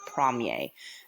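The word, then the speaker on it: premier: from yay that's what it sounds like when you say that word prom yay so you would use prom yay in that phrase instead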